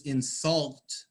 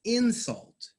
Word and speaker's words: insult: It's a set where Yes, you do pronounce these words differently if they are a verb or they are a noun.